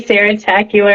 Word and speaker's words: Sarah Tacular: Okay, well, my stage name is, aka Sarah Tacular.